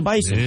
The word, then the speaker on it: Bison: interet it is the Bison yeah bison bis is the way they pronounce it they're picky about how they pronounce that yeah it's like a z even though spelled with an S but whatever North Dakota